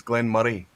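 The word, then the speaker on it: Glen Moray: banana skin it's Glenn it's Glenn Murray so it's almost as if it was spelled m u r r e y it's Glenn money Glenn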